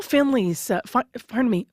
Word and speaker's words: Finley: It's Michelle Finley's, Finley's. I want to make sure I get her name correct. Finley is how it's pronounced.